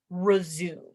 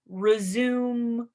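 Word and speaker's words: résumé: because it's French we we took this French word and we use it in English um and it looks like the word resume like resume the movie and it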